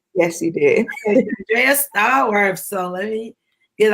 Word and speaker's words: Shandrea: And so this week, we have the wonderful, exciting, you guys, Shandrea. Did I say it right? Yes, you did. Shandrea Stallworth.